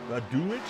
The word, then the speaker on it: Dulich: Okay, not itch. Okay. Actually, it's the accents on the front, so he's really glad.